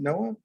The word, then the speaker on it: NOAA: pronounced noaa and not noah do people actually pronounce it noah everyone yes it's ubiquitous but it's it's the